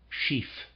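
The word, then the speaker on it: schief: describe the object as chief parentheses a slant on the inclined closed parentheses footnote sheaf pronounced like the word chief is the word used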